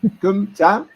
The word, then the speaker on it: Cơm tấm: And here you can see a market stall selling how do you pronounce this? Kumtem? Cơm tấm. Kumtam. Tấm. Okay. Tam? That's right. That's right. Kumtam.